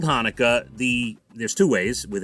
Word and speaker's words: Hanukkah: video but they spelled hanukkah the there's two ways with an h or a ch they spelled it with the ch so he pronounced it chanukah he had no idea it was hanukkah so he kept saying